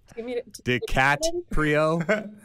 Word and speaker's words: DiCaprio: DiCaprio? did I pronounce his name correct?